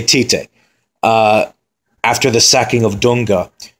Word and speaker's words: Tite: Once the new manager Tite came in, I know it's pronounced Chichi or Chiche, but I'm going to say Tite.